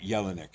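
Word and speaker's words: Jelinek: Uh Yelanick is J E L um I N I C K.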